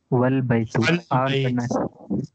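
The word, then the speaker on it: والبيت: Example, Al Baitu. Here the A is pronounced, but if it is preceded by Wa, meaning and, G, and the A is dropped and the phrase is pronounced Wal Baitu.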